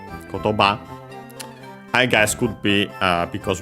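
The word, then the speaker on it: 言葉: As for its accent on the last mora, kotoba, I guess could be because we apply technically the rules of compounds.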